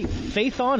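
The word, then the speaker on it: Phaethon: this nice Fai on fa faithon is that how is that how you pronounce it correct yeah okay I actually did it rightfully based upon uh Icarus okay okay the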